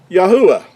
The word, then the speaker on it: Yahuah: So it gives us Yahu, first 3 letters, and the last letter would give us the ah. Yahuah would be how the Creator's name is pronounced. Now, this is a accurate transliteration with our definition that we've used, taking the Hebrew letters, what these 4 letters they would sound in Hebrew, and using English letters to give us the pronunciation of Yahuah.